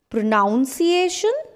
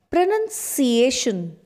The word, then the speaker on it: pronunciation: Is this pronunciation? No, that's wrong. It's pronunciation. Pronunciation. For example, his pronunciation is quite good in English. So, this is how we speak this word.